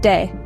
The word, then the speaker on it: de: Elgato means the cat next up we have day pronounced de this word translates to